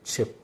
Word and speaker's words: Tchep: বলা হয় এটা হচ্ছে চেপ বানানটা লেখা হবে ইংরেজিতে লিখলে বা এদের ভাষায় লিখলে টি সি এইচ ই পি টি এখানে উজ্জ্ব থাকবে সাইলেন্ট তো চেপ এটা একচুয়ালি সেনেগাল